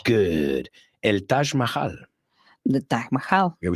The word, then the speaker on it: Taj Mahal: The Taj Mahal.